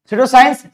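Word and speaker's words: pseudoscience: Next पिस्वे इन the sense wrong, अभी P silent है सुवे, ठीक है।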